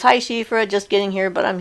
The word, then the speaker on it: Siofra: do you pronounce shifra shifra s i is pronounced she like the pronoun for a female she so s-i-d-h-e is the